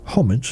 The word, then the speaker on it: homage: Yes, I am well aware that you kinda are supposed to pronounce that homage, and yet I kinda like the alternative take on the pronunciation of that word a little bit more.